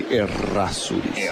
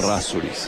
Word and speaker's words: Errazuriz: It's two R's. And in Spanish we say Errazuriz. Oh, we You can't have to say that. Yes. Errazuriz.